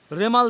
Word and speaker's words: রেমাল: আপনারা প্রত্যেকে জেনে গেছেন ঝড়ের নাম রেমাল অনেকে উচ্চারণে ভুল করছেন রিমেল অনেকে বলছেন রুমাল যেটা একেবারে হাসি মুখে